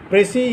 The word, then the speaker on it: précis: Just like this, précis is also a French term and S remains unpronounced.